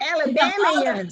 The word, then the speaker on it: Alabamians: your former Alabamians, and is that how you say it? Alabamian? Some of your yes, ma'am, Alabamians. People who live in Alabama. Champions. Say it that way.